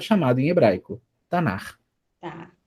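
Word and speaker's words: תנ״ך: Por que a gente não lê Tanak, mas Tanar?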